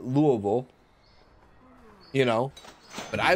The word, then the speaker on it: Louisville: like I would call Louisville Louisville and I know a lot of people from Louisville would call it Louisville you know but I would call it Louisville thank you a thinker